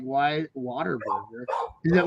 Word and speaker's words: Whataburger: Well, see, I thought it was called Water Burger when I first saw it. And my uncle was like, no, it's Whataburger.